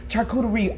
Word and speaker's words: charcuterie: It's 3 syllables. Stop laughing at me, Char. Char. Charcuterie. Tari. Hold on. Charcuterie.